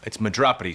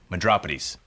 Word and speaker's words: Madropides: It's Madropides, sir. It's Greek. This says Meat Drapes. It's actually pronounced Madropides.